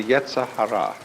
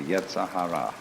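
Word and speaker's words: yetzer hara: rascality in Jewish theology this is called the yah Hara uh ye e z e r h a r a the Yahara the element of irreducible rascality which was created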